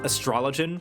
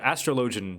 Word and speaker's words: astrologian: go find him i'm pretty sure it's pronounced astrologen because it's astrology but astrologian just feels more natural i'm okay can i